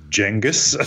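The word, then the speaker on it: Genghis: as informed us that we've be mispronouncing genas it should be jenus jenus yeah um I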